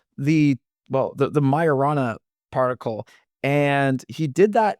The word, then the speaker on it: Majorana: if you read it it's spelled like majorana so it's like m a j o r a n a like majorana but I guess it's pronounced Mayana um and it's named